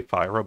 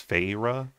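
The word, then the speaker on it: Feyre: And then Fyra, I say Fyra, but it's Fayra.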